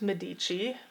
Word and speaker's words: Medici: ones uh is the medici family also heard it pronounced medici i think it probably depends on your accent and which language you're speaking but the medici family